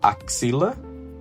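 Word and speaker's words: axila: We have axilla, then armpit, axilla.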